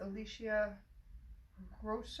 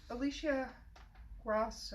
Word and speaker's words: Alicia Ross: a nostalgia soap with Alicia gross oh wait no and the one pronouncing her name wrong Oh Alicia Ross oh yeah I had